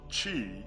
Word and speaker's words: Qi: Qi, pronounced Chi, is a Chinese word for the life force energy that flows throughout the body.